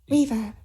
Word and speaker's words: Reverb: Reverb. Yeah, it's just like verb, but a R-E in front.